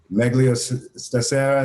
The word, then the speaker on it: Meglio Stasera: Meglio Stasera, is that how you pronounce it?